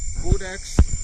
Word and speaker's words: Codex: Codex is pronounced with a long O, as in code.